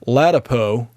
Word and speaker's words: Ladapo: Joseph, I believe his name's pronounced Ladapo, has released the following statement.